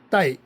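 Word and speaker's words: 岱: 아, 중국어 발음으로는 따이 따이 이렇게 발음이 되죠.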